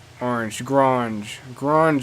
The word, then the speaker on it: Grange: Grange affair. Yes, it rhymes with orange.